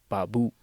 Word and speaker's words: babu: So it just has two syllables, ba, which is a and u. So babu.